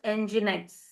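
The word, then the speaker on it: nginx: We pronounce it as enginex. Okay, pronounced this way.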